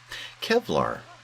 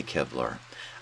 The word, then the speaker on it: Kevlar: vests and helmets and i mispronounced where is it Kevlar it does say Kevlar I read that over and over again last episode and I uh saw that L before the V and to my knowledge